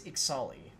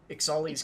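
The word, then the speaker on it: Ixalli: So, I think that's Ixali. Because we've been told that... Ixali? Yeah, because we've been told that the X is pronounced like Ixalan, so... Okay. Ixali's Keeper.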